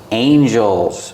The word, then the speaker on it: angel: figure but they're both Angels one Angel two two angels and we see the pronunciation with Angel we have a and g again so we need that long a sound like plate and day a angel one Angel